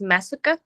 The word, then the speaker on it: Masuku: It's pronounced Masuka, but in Japanese it means mask.